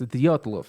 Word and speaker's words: Dyatlov: so correct me if I'm wrong it's the dock the yacht love pass incident yes Dyatlov yes yes it was in the Ural Mountains